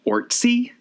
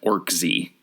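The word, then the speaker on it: Orczy: apparently it's actually pronounced orty it looks like it's pronounced orc Z because it has a z in it but it's one of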